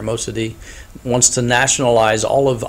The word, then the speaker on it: Mossadegh: The Iranian Prime Minister Mohammad Mossadegh, as you can see this pronunciation there, Mossadegh, wants to nationalize all of Iran's oil fields.